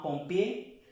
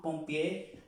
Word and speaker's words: pompier: Para el femenino, voy a trazar una raya, con sal, in pompière, une pompière, un pompier, on ne prononce pas la R, un pompier, une pompière, une pompière.